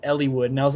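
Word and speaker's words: Eliwood: hold on a second, did you just pronounce the I in Elwood? And it. they're like, yeah. Like, what do you mean? What do you mean? What if I just did? Like, that's how you pronounce it.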